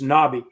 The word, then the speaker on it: nabi: The Hebrew word for prophet is nabi. N-A-B-I is the way you would spell it in English.